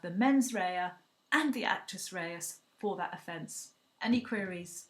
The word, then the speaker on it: actus reus: Raya is spelled m-e-n-s new word Rea and actress Reyes is spelled actus new word r-e-u-s okay so UK